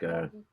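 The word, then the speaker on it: Borgeet: music, Bihu Sangeet, and Borgit, if I'm not like pronouncing it wrong. Borgit. Oh, it's more like Borgit. Borgit, like Kobe.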